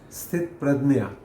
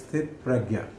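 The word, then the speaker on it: स्थितप्रज्ञ: and is pronounced in Marathi language, in Marathi as Sthit Pradnya, but it is written in Hindi as Sthit Pragya.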